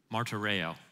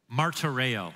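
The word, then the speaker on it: μαρτύρομαι: The Greek word translated as "you must," I'll give you the Greek pronunciation of the word. See if you can spot its English equivalent. You ready? Martyreo. Martyreo. What does it sound like? What English word? Martyr.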